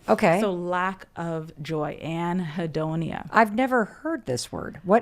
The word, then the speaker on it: anhedonia: You just anhedonia?